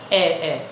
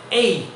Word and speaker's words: A: এই, কিন্তু আমরা সবাই এটাকে বলি এ এ। নো, ইট উইল বি এই।